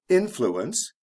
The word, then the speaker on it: influence: if with this word there's also a stress change for example influence the stress is on the first syllable influential the stress comes right before the ending cause causal notice we're